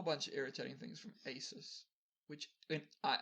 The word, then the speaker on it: ASUS: of irritating things from asus which i i think it's a zeus it's not aces it's racist no it's pretty cool that sounds stupid it's pronounced asus i'm just gonna go